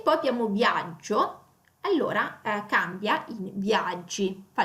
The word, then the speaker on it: viaggio: In viaggio cade qui, non cade sulla i. Allora praticamente tira via la o e non aggiunge l'altra i, quindi è una i sola.